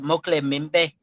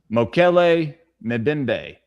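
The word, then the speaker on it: Mokele-mbembe: And have y'all ever heard of Mokle Mimbe from the Congo? Spell it for me.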